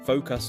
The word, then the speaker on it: focus: They say focus too strong at the end. Oh, like stress on the wrong part? Yes, but it should be focus.